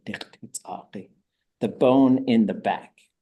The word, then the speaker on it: x̱ʼaduwóosʼ: ʼaduwóosʼ. Backbone. Inside back. Spine is really what it is. That's how you say it. ʼaduwóosʼ.